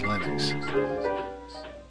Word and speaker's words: Linux: Hello, this is and I pronounce Linux as Linux.